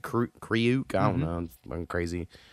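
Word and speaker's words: Kreuk: Anyway, so my number 3 is from Smallville, who is Lana Lang in Smallville, and her name is Kristen Crook. I think they pronounce it Kriuk.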